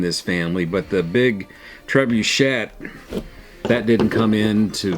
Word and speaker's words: trebuchet: up my young friend it looks french but it is actually pronounced trebuchet just kind of like it looks yes um so it